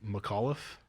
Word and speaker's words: McAuliffe: say the last name McAuliffe yeah McAuliffe that's Cal since last name McAuliffe huh you wouldn't you wouldn't think so by the spelling Mik Olaf yeah McAuliffe kind of